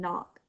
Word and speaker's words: knock: next word oh not the K is silent and knock the K and the